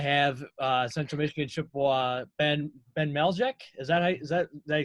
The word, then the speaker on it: Maleszyk: And let's get it going as we are fired up to have Central Michigan Chippewa Ben Maleszyk. Did I say it right? Maleszyk, yep.